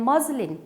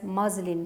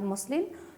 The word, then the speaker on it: muslin: And muslin, this is pronounced as muslin, not muslin. So the correct pronunciation is muslin, thin cotton cloth.